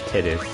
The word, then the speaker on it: Titus: Let's use Titus. And I'm gonna say it like that just to annoy people who pronounce it Titus. This is Titus. Like titty-is. Titus.